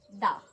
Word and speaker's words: the: बट अगर कोई भूल गया है तो कोई बात नहीं, हम दोबारा पढ़ लेते हैं. दा, इसको दा हम तब पढ़ते हैं जब हमारे पास दा के आगे वाली जो स्पेलिंग है उसका साउंड कॉन्सोनेंट हो.